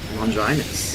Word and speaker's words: Longinus: Deo said it right though. I He know. said- Oh, real? it's But, he said it's so right. Longinus.